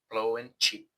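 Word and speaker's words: Phloen Chit: here about 15 years I heard plone chit pronounced on the BTS and was surprised on how it sounded blow in cheap anyway I think it's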